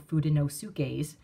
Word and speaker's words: Fudenosuke: the Tombow Fudenosukes, and my daughter about had a temper tantrum. She was like, that is not how it's pronounced. And so she corrected me. Now I have to say Fudenosuke. And because of that, every time I hear Fudenosuke, I'm cringing right along with my daughter.